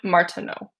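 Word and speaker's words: Martenot: I just was googling the and Martina I think is how you pronounce that. Um on wait and martino that's how you pronounce. Okay. Uh French.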